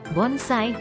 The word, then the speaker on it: bonsai: Versi mereka, yang sebelumnya disebut hachiwe, atau istilah lain, diganti namanya menjadi bonsai, pengucapan Jepang dari istilah Cina penzai.